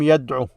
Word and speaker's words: يدعو: But the way you pronounce it is هو لم يرمي أو هو لم يدعو. You don't extend that O as you would in this state here.